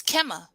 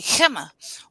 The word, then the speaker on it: Qimmah: So the correct pronunciation is Qimmah, you know, in Arabic. So, you know, they'll say Qimmah, and the meaning of the name is highest point on a pinnacle.